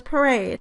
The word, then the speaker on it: parade: in the sentence was parade. And it should receive primary sentence stress on the second syllable, because that is the stressed syllable in the word "parade."